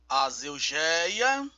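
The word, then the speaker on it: ἀσέλγεια: aqui ó vamos ler bem devagar para aprendermos pronunciar vamos lá azelia azelia significa Luxúria desenfreada excesso licenciosidade lascívia caráter ultrajante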